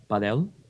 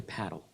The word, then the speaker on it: padel: Fun fact about paddle, a lot of people in America pronounce it padel. I've been finding out from the paddle guys, you want to say paddle.